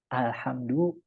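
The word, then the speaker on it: الحمد: di situ Alhamdulillah ulangin mana salahnya alhamdu tidak memantul itu bukan qqalah seringkiali kita ngucapin Alhamdulillah itu alhamdulillah ada alhamd mantul itu gak boleh lam itu bukan huruf qqalah huruf qqalah itu baju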